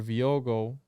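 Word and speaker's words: Viogué: And a priest, Father Viogo, that's how you say it, was called in to administer the last rites.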